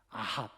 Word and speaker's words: 아합: 근데 여러분이 에이브라고 우리가 이제 말하지만 이게 영어식 발음인데이 허먼 멜빌이요.이 책을 쓰면서 거기에 등장하는 많은 사람들의 인무를 성경에서 이름을 따왔어요. 그럼 이허브는 누구냐? 아합. 우리가 성경에 말 아합하왕 알죠? 아합을 영어식으로 읽으면허브야.